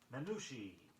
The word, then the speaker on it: minutiae: Minutiae, spelled M-I-N-U-T-I-A-E, meaning trivial details.